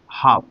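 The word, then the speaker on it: half: इसलिए ए को यहां पे साइलेट रख देंगे और इसकी इसको हम बोलेंगे हाफ। एच ए एल F directly इसमें ए के बाद एल आई इसलिए एल को सेलेक्ट करके बोलने वाले हाफ बनेंगे और इसका मतलब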